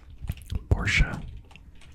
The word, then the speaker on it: Porsche: Porsche is technically the right way to say it.